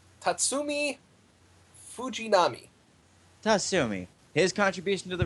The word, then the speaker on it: Tatsumi Fujinami: Now, Iron Bite, how do you pronounce his name? Tatsumi Fujinami.